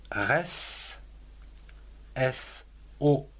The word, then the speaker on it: ressort: Le ressort, R-E-S, res, S-O-R-T, que l'on prononce ressort. On ne prononce pas non plus le T.